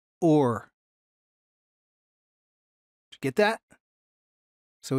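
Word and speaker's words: עור: in hebrew is pronounced or get that so in hebrew you pronounce skin or the same as same as light except it's spelled a little bit different in this case it's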